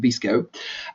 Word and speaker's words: VSCO: It's there's VSCO, you pronounce it Visco, and what it does,